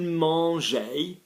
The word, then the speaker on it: mangeaient: Ils mangeaient, they were eating, the was form, AIENT. We don't pronounce the ENT, but it's still there.